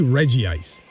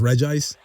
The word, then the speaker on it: Regice: pronounce this this uh Pokemon's name I say Reggie ice I know that it's pronounced Regice right like there's no two eyes but I just I just think Reggie ice sounds like so much cool anyway I go